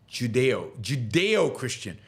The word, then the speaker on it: Judeo-Christian: Judeo-Christian. Judeo-Christian. I'm not sure how I'm pronouncing it. Judeo-Christian. Thank you. Yes, it is pronounced Judeo.